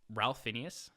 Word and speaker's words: Ralph Fiennes: I said Phineas. I think it's Ralph Fiennes. I said Phineas. Caipirinha. I can't read apparently. I think it's Ralph Fiennes.